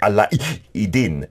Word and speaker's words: Alaeddin: So she's our Friday guest, and her name also, it's spelt like Aladdin, but she taught me in Arabic, you have to pronounce it Alaeddin.